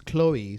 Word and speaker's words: Khloe: hard to read it it's Chloe so it's not CLE oh it's good an H in it but it's just Chloe so it's not Chloe